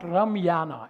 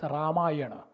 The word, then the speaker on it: Ramayana: Anand asham it's asham it's not Ramana it's ramayana it's not maata it's